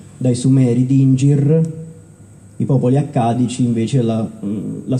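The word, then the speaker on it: dingir: forma di stella per la cronaca i sumero si pronuncia di Inger era proprio una stella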